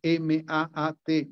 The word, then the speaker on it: Ma'at: Hay una expresión en el Antiguo Egipto que se escribe M-A-A-T, Ma'at, que plantea esa relación, una